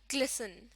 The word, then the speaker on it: glisten: Glisten इसमें T silent होता है और इसको glisten प्रोनाउंस करते हैं।